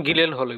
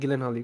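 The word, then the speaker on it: Gyllenhaal: ছবির নাম হচ্ছে এনিমি, আর ফেভারিট অ্যাক্টরটা হচ্ছে জনগণ জেক জিলেন হল আর কি। খুবই ইন্টারেস্টিং, এটা একটা ইন্টারেস্টিং একটা মুভি। উচ্চারণ গিলেন হল, গিলেন হল। যে গিলেন হাল না জিলেন হাল।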